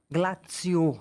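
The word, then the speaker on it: Glaziou: e paisagista Auguste Glaziô Glaziô me falaram que a pronúncia é assim E ele ele estudou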